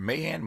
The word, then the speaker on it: Mahan: Is it Mahan? How do you pronounce it? Mahan, yeah.